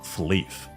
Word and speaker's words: Flyff: So before the second beta test, the game was renamed to Fly for Fun Flive, pronounced Fleeve.